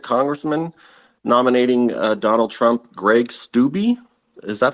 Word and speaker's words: Greg Steube: Just as an FYI, we've got a second congressman nominating Donald Trump, Greg Steube. Is that how you say it, Jim? Yeah, Steube.